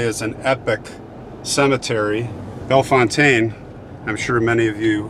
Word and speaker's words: Bellefontaine: And by the way, that is how it's pronounced, the French way. I talked to the people here. Bellefontaine, not Bellefontaine, but whatever you like.